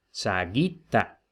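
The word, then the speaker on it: sagitta: da en español saeta, veremos que la i no tiene macrón, pero como va inmediatamente seguida, en este caso de dos consonantes, dos t's, entonces esa sílaba es larga y por tanto penúltima sílaba larga acentuada.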